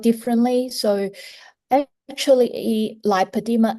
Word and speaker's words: lipoedema: Lipodema is different. So lipadeema um is spelled differently. So actually lipadema l i p o e d e m a.